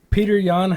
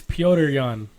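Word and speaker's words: Petr Yan: Peter Yan is favored to win. Peter Yan's been on a fucking tear as of late. Or actually, it's Piotr Yan.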